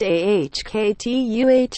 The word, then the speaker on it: Okta: That's where Okta, Nasdaq Okta, pronounced AHKTUH, comes in.